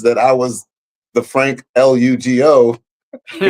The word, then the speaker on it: Lugo: My name is Frank Elugeeoh. It's spelled L-U-G-O. Now, if you say the name on Facebook, Frank Elugeeoh, it is a phonetic pronunciation of my name, L-U-G-O.